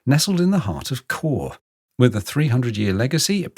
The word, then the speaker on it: Chur: It's actually pronounced core.